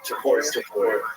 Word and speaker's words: Topuria: Topuria.